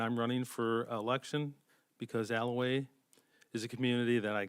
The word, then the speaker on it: Allouez: live in the area after being able to pronounce Alaway correctly I tell them Elway is a gem with the proximity to the